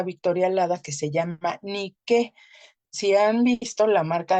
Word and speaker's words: Nike: le pone Nike no y niqu es un nombre griego que es n i K e acento en la e ni que Y